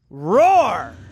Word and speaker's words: RORR: 2018 Kenda tough like roar roar you got to say it like that it's the tough line